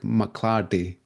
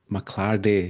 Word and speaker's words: McLardie: chat today with McClardy. Hi. Hi, Bill. And you said that beautifully. Mclarde. I haven't heard my surname pronounced like that in a long time.